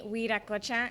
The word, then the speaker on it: Guiracocha: everyone um it's weed at glitcha it's really hard but just every letter gets pronounced a g is kind of Silent it's an ink and